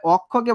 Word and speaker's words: অক্ষ: তাহলে অক্ষকে ভাঙাইলে আমি পাবো অক, ক্ষয় উকারে খো, অক্ষ। আমি তোমাদের জাস্ট বুঝাইতেছি এই যে এই অংশটা, যে অটা আসলে কিভাবে ওতে বিবর্তিত হচ্ছে, এটাই নিয়ম।